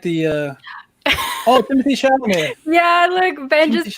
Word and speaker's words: Chalamet: I'm Chalamet. Like, I think it's like a certain way you pronounce his last name. I say Oh. Chalamet. I love that. I say Chevrolet.